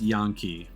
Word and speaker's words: Yankee: Yeah, it's spelled Yankee, but it's a Japanese term, so it's pronounced Yankee. At least as far as I'm aware.